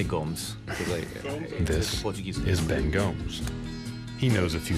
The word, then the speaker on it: Gomes: this is ben gomes well the correct pronunciation is gomez this is ben gamez but i say gomes this he knows a